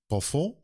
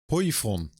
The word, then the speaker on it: poivron: Pavron. Poivron. So no confusion. Poivron. Poivron? I would say poivron.